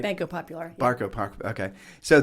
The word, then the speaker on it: Banco Popular: So if you're banking through Wells Fargo or Bank of America, or we're down here in Puerto Rico, Banco de Popular. Did I say it right? Banco Popular.